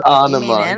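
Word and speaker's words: Ænema: It's ana. You both you both pronounced it wrong.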